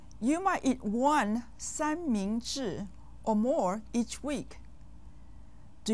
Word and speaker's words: 三明治: 三 with the first tone, 明 with the second tone, and 治 with the fourth tone. You might eat one 三明治 or more each week.